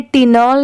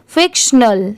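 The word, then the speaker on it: fictional: एन ए एल स्नल यहां पर टी की साउंड ट की नहीं आएगी इसे टिनल नहीं पढ़ेंगे यहां पर स्नल की साउंड आएगी फिक्शनल ठीक है ये है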